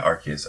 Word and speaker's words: Arceus: Is it Arceus? I think it's with a hard C, yeah. Yeah, Arceus. Okay.